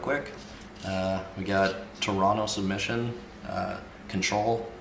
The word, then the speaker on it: CNTRL: we got Toronto submission control is how you say it but it's spelled cntrl like the button on your keyboard or whichever but yeah